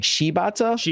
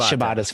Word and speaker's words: Shibata: I mean, the Japanese pronunciation is more like Shibata, but Shibata's fine too.